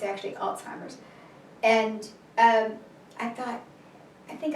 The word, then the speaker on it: Alzheimer's: Then I heard the term Alzheimer's, and for a lot of people, pronounce it old-timers, which I think is hysterical, but it's actually Alzheimer's.